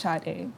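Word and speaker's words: Sade: be shade but it's it's written s a d but it's pronounced shade wow w every time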